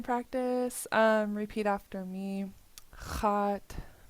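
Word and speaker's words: x̱áat: Hot. Hot. Hot. Good. Do a song. This is underline X. So it's pronounced in the back of your throat.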